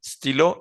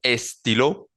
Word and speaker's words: stylo: Stilo es lapicero, perdón, y es una palabra que comienza por S. Entonces digo stilo, stilo, no digo estilo, sino digo stilo.